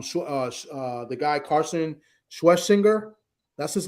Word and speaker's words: Schwesinger: Um uh uh the guy Carson Schwesinger, that's his name. That's how you pronounce him.